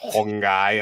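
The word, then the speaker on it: Huang Gai: then guy is like G AI but it's pronounced hongy and I was like that dude has the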